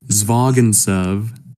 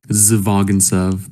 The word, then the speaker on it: Zvagintsev: It's called The Return from 2003, directed by Andrei Zvagintsev, and there's a Z at the beginning. Zvagintsev, but it's like Zvagintsev, and I'm probably butchering that because his name is spelled like, I mean...